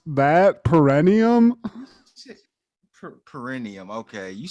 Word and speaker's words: Perineum: And it's Perineum. So however you pronounce that, perennium. Perineum. Okay, you said some perneal.